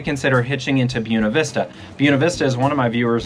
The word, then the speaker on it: Buena Vista: Buena Vista, as one of my viewers noted, is actually how the locals say it. So it's not Buena Vista, which I know is the appropriate Spanish pronunciation, but if you live